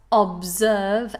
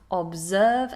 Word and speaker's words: observe: Then we have the words observe and deserve. Observe and deserve. Notice those S's are actually Z sounds.